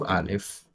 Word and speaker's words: Aleph: In the case of Aleph, the name of the first letter, Aleph, the first syllable of the name is A.